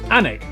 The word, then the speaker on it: Alnwick: Alnwick, which is near Newcastle.